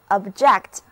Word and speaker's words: object: 跟我一起来念两遍吧， object， tell me the names of the objects in this room，请告诉我这个房间里物品的名称。object 这个单词同时也可以做动词，这个时候它的重音在第二个音节，字母 o 读作短的 a，而字母 e 要发短的 a，整个单词读作 object，意思是反对拒绝。